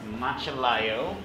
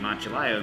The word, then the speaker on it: Macellaio: Yeah, so this is our MACELLAIO. MACELLAIO. A little history about the MACELLAIO. No one knows how to pronounce it.